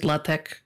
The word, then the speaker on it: LaTeX: like latex but it's um it's spell you pronounce it latek uh which is it's a like a semi